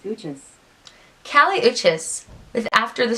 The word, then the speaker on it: Uchis: Hey Google, how do you pronounce U-C-H-I-S? That's pronounced Uchis.